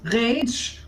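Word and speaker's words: Radg: It's pronounced Rage. Even if you spell it R-A-D-G.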